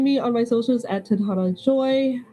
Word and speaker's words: Tadhana: Hello, my name is Titana Joy. I've been many people and also the whole world. You can find me on my socials at Tadhana Joy.